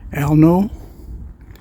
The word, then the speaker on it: Alnö: on the little island that looks like it's pronounced elno a-l-n-o with umlots and we are looking West